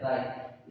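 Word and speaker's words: wry: देखिए यहाँ पे ये जो डब्ल्यू है ना, ये साइलेंट फॉर्म में है, इसलिए यहाँ का जो प्रोनाउंस है उस पर ध्यान दीजिएगा, ये बनेगा राइट। ठीक है, कैसे बनेगा, ये ठीक है, यहाँ पर ये डब्ल्यू साइलेंट है, राइट।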